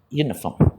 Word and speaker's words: uniform: I wore a uniform to school, pronounced as Y, uniform.